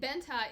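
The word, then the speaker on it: Bente: first read this book because it's b-e-n-t-e i was like i know how to pronounce that name because in dutch an e can be pronounced as an a and i was just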